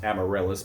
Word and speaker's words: Amaryllis: i apologize amaryllis or i'll be calling her amarith so i'll keep doing that even though it's amaryllis but honestly they slur their